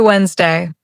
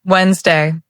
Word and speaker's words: Wednesday: We write wde dd e sd d y but we say Wednesday. Say it softly. Wednesday. The middle sound disappears.